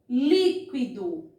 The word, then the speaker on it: líquido: Trouxe uma terceira palavra que também está acentuada. Então, eu já sei, líquido. Líquido. Então, vejam só. Se eu, circular a sílaba li, que é a sílaba acentuada, eu já acertei a questão.